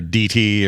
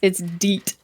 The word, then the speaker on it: Deet: So it's not Dete or DT or anything like that, as far as we know. Okay. No, it's Deet.